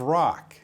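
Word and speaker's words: Roque: state trooper came in by the name of rock you probably know david david rock oh my gosh his name is spelled r-o-q-u-e i think he knows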